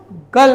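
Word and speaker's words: girl: जिस में आप देखिए जहां पर जैसे जी आई आर एल इसको गर्ल कहते हैं। गर्ल लोग कहते हैं। गर्ल कहते हैं। गर्ल का उच्चारण ये र का उच्चारण नहीं होगा।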